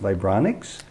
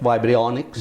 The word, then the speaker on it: vibrionics: I think it's pronounced vibronics. Correct, vibrionics. Vibrionics, and it's unheard of in many corners of the world.